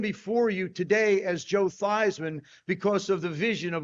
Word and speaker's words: Theismann: He says, "Joe, how do you pronounce your last name?" I said, "It's thesman." He said, "No, it's not." your last name is pronounced thyman.